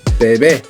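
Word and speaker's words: bebé: So to pronounce it in Spanish, it's bebe. The stress is on the final E at the end, if you don't notice.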